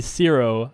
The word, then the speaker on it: Syro: Syro. Pronounce it right, I dare you, smiley face. S-Y-R-O. How isn't that Syro? I mean, it could be Ciro, I guess, but I think it's Syro.